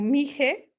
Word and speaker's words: mixe: academia y bueno como mixe una parte es con equis pero en realidad se pronuncia jota dijimos si algo así